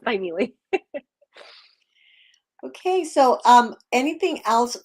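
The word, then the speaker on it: Thymele: a-r-t-s family Arts a lot of people say timely but it's actually spell it's actually pronounced by Neely okay so um anything else uh you want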